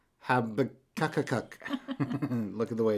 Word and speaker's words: Habakkuk: Habakkuk. Habakkuk. Look at the way it's spelled. It's Habakkuk.